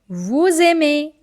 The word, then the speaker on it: vous aimez: Again, first word ending with silent letter, second word starting with vowel. So they both will connect and the sound will become z. So it is like vous aimez, you like.